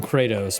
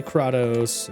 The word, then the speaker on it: Kratos: I always want to call him Kratos, but I know that's not how he pronounces it, so I have to say Kratos.